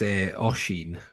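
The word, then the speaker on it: Oisín: My understanding is it's Oisin. Not quite a, but like an aw Oisin.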